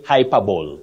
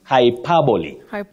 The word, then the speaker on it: hyperbole: have exaggeration in literature you don't say hyperb it's hyperboy we have n n is